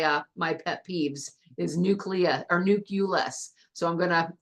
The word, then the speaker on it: nucleus: the very center of the atom Wick the nucleus the nucleus good and I love the way you pronounce that so I want you guys to look at this word nule us you will hear people say nuus it is not nucleus the U does not